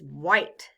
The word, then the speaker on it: white: The letters W-H stand for the sound W. The letter I stands for the long I sound, I. The E is silent.